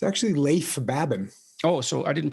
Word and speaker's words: Leif Babin: the dichotomy of leadership with fellow retired seal leif baben did i pronounce that right it's actually leif babin oh so i didn't pronounce it right at